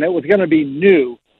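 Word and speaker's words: Nu: I went and looked, and it was going to be new. Not like NEW, but pronounced new, and I'm like, that's going to be confusing.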